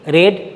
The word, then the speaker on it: read: তাই রিড, রেড, রেড। Past participle form আছে রেড, তাহলে READ, উচ্চারণটা রেড।